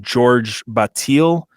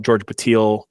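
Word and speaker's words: Georges Bataille: Another one of his influences, and I might get this name wrong, it's George Bataille, I think.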